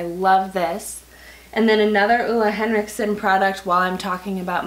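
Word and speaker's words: Ole Henriksen: that I finally like borderline learned how to pronounce. Ulla Henriksen.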